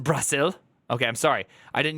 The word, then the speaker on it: Brasil: boys we're going to Brazil I'm going to Brazil okay damn chicken Tiki Masala look good in